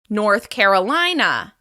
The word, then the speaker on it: North Carolina: North Carolina. This state is stressed on the third syllable of the second word.